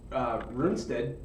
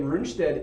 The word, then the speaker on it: Rundstedt: Once Rundstedt Is that how you say his name again? Yeah. Once you get Rundstedt in the tank, the armored division coming through, they're cut off.